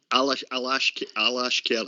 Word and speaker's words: Alashkert: Did I pronounce the team right there? Was it Alashkert? Alashkert, aye.